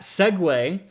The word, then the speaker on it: segue: he segued into this, that segue is spelled S-E-G-U-E, not S-E-G-W-A-Y. That's weird. That's a thing. I didn't know that. We're just gonna say it like segue, like the little segue thing, because it's funnier.